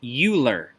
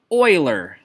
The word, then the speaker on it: Euler: actually a mathematicians name and it is not pronounced ulor it is pronounced Euler kind of the best way to write that